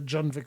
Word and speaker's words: Junvik: Back to Junvik Village. Well, actually, they pronounce the J, the Junvik Village.